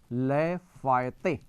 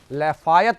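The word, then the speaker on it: Lafayette: France की major मदद रही, नाम था लैफायते, लैफायत बोलते वक्त, लेकिन नाम है उसका, फ्रेंच प्रोनाउंसिएशन है लैफायते, लफायते, लफायते बोलते हैं।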